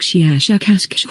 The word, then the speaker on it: shiashukash: human letters something like shiashukash with a very very strong pronunciation of the s h and k sounds we have no four